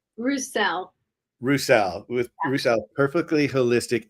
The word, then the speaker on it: Roussell: name to make sure I say it right rousel rousel with rousel perfectly holistic and I had